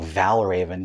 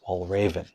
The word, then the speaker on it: Valravn: this i was saying val raven because you know i'm a silly american but apparently it's pronounced wall raven and i'm probably still